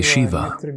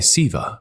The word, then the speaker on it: Shiva: Some say Shiva, some say Siva with an S. Both are correct as long as it comes from the heart.